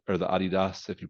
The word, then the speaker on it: Adidas: You know, and they'll still have like the Nike swoosh or the Adidas or the Adidas, if you pronounce it that way, because you're from Europe.